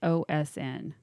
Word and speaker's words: Ghosn: It's Ghosn.